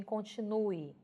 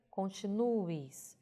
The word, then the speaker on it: continue: esse verbo notadamente em continue veja que a pronúncia sai no som de we porém na grafia eu devo usar realmente a letra é veja continue continue mas porquê porque no